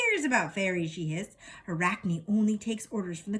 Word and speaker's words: Arachne: In ancient Greek, Arachne, pronounced Arachne, means spider.